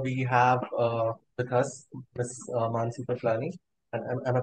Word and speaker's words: Mansi Piplani: Mansi Piplani. Am I pronouncing that right?